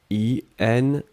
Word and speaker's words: inconnu: Alors, faites attention avec le premier mot, puisqu'effectivement, inconnu, on peut le prononcer de la même façon au masculin et au féminin. Ici, vous voyez clairement que l'article c'est un, donc ça va être le masculin. I-N-C-O-N-N-U, d'accord? Un inconnu. Si c'était le féminin, on le prononcerait de la même façon, mais on ajouterait le E à la fin.